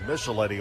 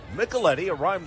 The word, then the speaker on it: Micheletti: We were calling him Micheletti all night Thursday, but Micheletti kind of rhymes with Eddie.